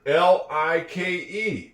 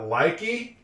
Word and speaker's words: like: L I ke. Is that likey? No. We know it's like. The e is silent.